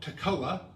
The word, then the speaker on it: Tekoa: Amos was from a village called Tekoa, I think is how they say it, to the south in Judah, again, where the temple was.